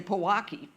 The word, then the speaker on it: Pojoaque: If you're local and you hear it all the time, you just say Pojoaque.